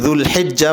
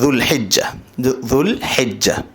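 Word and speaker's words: ذو الحجة: হতে পেরেছেন সেটা হচ্ছে জুলহিজ্জা মাসের ফজিলত এবং করণীয় পাশাপাশি কোরবানির মাসআলা মাসায়েল জুলহিজ্জা যেটা আমাদের বাংলা ভাষায় আমরা জিলহজ্ মাস বলি আরবি উচ্চারণ হলে জুলহিজ্জাল হিজ্জা এ মাসের ফজিলত সম্পর্কে এটুকুই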